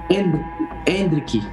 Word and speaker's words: Endrick: ¿Endrick o Endricky? Endricky. Endricky.